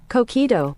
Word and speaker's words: coquito: Uh coito. Cockito. A co like a do but not toe. All, but it's it's spelled toe.